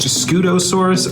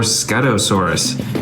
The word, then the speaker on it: Scutosaurus: set this is the I think it's pronounced scutosaurus or scutosaurus it's a bright orange